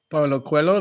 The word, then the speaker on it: Paulo Coelho: Paulo Coelho, that's how you say it, the author's name.